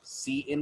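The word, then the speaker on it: cin: और पूरा नाम पढ़िएगा, है ना, सी आउट और सी इन पढ़ना है, काउट किन नहीं पढ़ना है। मैंने बहुत सारे बच्चों को देखा है काउट किन पढ़ते रहते हैं इसको, ये नहीं है इनको प्रोनाउंस करने का तरीका। The better way to pronounce them is सी आउट एंड सी इन।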